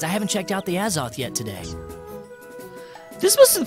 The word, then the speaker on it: Azoth: ditch study hall to hang out by the Azoth again yesterday what is the as off although